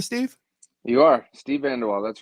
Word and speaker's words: VanDeWalle: Am I pronouncing that right, Steve? You are Steve VanDeWalle.